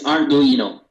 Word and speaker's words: Ardoino: What's the correct pronunciation? It's Ardoino.